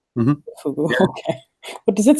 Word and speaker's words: Fugu: Fugu.